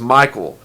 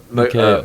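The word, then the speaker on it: Mikael: truth, for 27 years, I thought it was Michael. But I actually looked up somebody interviewing him, and they pronounced it. Mikhail.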